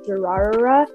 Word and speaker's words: Durarara: So for anybody who's listening and wants to search this up, the butchered pronunciation is Durarara.